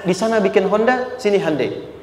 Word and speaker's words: Hyundai: sana bikin Honda sini Hyundai Hyundai kan bacanya Hai Ya kan sana Honda sini